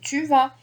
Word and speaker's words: vas: I say tu vas et il, elle va. Mais là, tu, it ends with S. Don't forget this. Tu vas. I don't pronounce the S, but it's here.